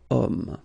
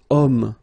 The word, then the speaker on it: homme: Because homme, well, it's masculine, yes. The reason is that it starts with the sound O, because if you remember carefully, H is not pronounced, so H doesn't exist phonetically.